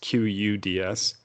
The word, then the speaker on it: Quds: What do you know how to pronounce I think it's pronounced the Cuds. Yeah, I'm pretty everywhere else I've seen it. It's QUDS. Okay. I think he misspelled it. It's the Cuds Force.